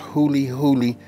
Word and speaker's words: huli huli: say it like this this right here is pronounced hully hully you know chicken right you got to go